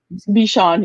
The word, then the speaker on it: Bichon: Bichon? Bichon, yeah.